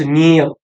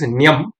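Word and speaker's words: ण्यम्: There are other people who say the Nyam is to be split as Niyam to make it into two syllables. The one syllable, which is Nyam, if it is broken into Niyam, it becomes two syllables.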